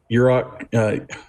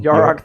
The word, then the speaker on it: Yarok: I mean, I play it in my Urok... oh my gosh. The Desecrated? The Defecated? Yes. Urok... I'm probably pronouncing that wrong. Yarok the Defecated. Yarok, yes. Desecrated, Yarok, actually, but...